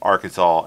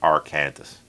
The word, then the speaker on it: Arkansas: And yes, they are pronounced differently because of the British and the French. It's It's odd. Technically, it's the British and the French pronounced that differently. Why we have Arkansas and not R.